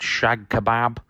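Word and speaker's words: cağ kebabı: The old shag kebab. That is how you say it, by the way.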